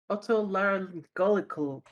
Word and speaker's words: otolaryngological: Do not ask me how to even pronounce that one. Let me ask Google. New Air Otto Larry. Clinic. Okay, grief. Otolaryngological clinic.